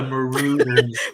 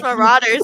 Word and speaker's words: Marauders: Elwood says, I'm forever calling the Marauders. Marauders? It's Marauders, huh? I say it wrong every time.